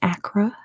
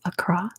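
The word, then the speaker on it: Accra: GH is a and that is how you pronounce it it's not Acra it's Acra what animal does Acra translate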